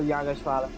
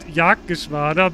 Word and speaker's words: Jagdgeschwader: It's called Jagdgeschwader, but never mind. Jagersvater. Yeah, almost.